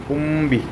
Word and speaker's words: هم به: അപ്പം ഇവിടെ ഉദാഹരണത്തിന് ഹും ബിഹി എന്നാണ്. പക്ഷെ അതിന് നമ്മൾ എന്ത് ചെയ്തു? സുക്കൂനുള്ള മീമിന് ശേഷം ഹർക്കത്തുള്ള ബാഗ് വന്നതുകൊണ്ട് മീമിനെ അവ്യക്തമാക്കിയിട്ട് നമ്മൾ ബാവ് ഉച്ചരിച്ച് എങ്ങനെ? ഹുംബി.